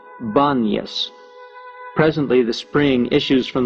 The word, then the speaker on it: Banyas: The inability of most Arabs to pronounce the P is the reason the place of Pan is called Banyas.